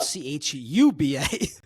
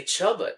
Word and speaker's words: Chuba: read was that it was it's actually spelled c hu ba.